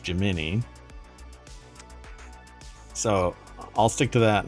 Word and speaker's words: Gemini: spacecraft now some people say that this is Gemini but what I've been told is it's pronounced jimini so I'll stick to that and tell somebody